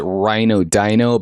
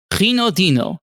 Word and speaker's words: Reodino: Uh in English we would pronounce it rhino dino, but it is pretty far off. It's uh do you want to pronounce that for us real quick? Yeah, sure. Reodino, but I'm so used